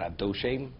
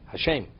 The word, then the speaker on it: Hashem: There's no word Adoshem. Hashem means the name.